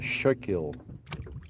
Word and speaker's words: Schuylkill: There's the Beaver Kill, and then in Pennsylvania you got the Schuylkill. What's that? Schuylkill, but it's spelled all weird.